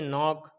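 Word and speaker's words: knock: गया इसी तरीके से नाक नाक मेंस दरवाजा खटखटाना इसी तरीके से यह भी यहां पर क्या हो गया के साइलेंट हो गया हमने रूल पड़ा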